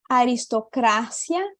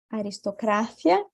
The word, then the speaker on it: aristocracia: né tônica anuncia democracia em espanhol a sílaba tônica vai mudar também vai ficar com essas daqui Repita comigo acrobacia a Croácia aristocracia aristocracia burocracia e democracia democrática